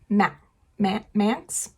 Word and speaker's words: Manx: And then you also, in this first part, meet our antagonist, who is Charles Manx, M-A-N-X, Manx.